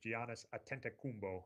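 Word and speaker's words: Giannis Antetokounmpo: did learn to say his name which is Giannis atent kumbo and there's a great video of him saying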